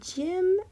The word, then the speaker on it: gym: And gym. Even though we hear the J sound, it's spelled G Y M. Sometimes the letter G can make the J sound like giraffe.